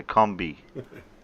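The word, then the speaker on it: Kombi: Rhymes with zombie, right? Oh, Little Wolf got it first. Yeah. And you as well. So combi, because it's a German word.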